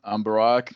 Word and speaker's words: Barak: I'm Barack, like Barack Obama. That's how you say it.